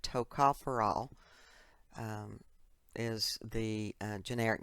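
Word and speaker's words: tocopherol: so very important and you pronounce that TOA foral um is the uh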